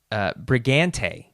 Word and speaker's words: Bregante: It's Bregante. It's hard because like the GA sound. I want to say Bregante, but anyways.